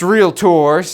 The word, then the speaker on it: Realtor: so joining the Association of Realtors and it's pronounced real tours so you'll hear them talk about that all